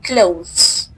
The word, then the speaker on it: clothes: So the th is soft. So we say clothes.